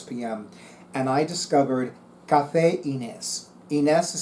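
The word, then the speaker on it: Ynez: And I discovered Café Inés. Inés is spelled capital Y, N as in Nancy, E, Z as in Zachariah.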